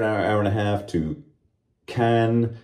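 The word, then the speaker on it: Caen: and a half to Cannes, C-A-E-N, Cun. It's hard for me to pronounce that in French, even though I can pronounce French fairly well, right, French friends?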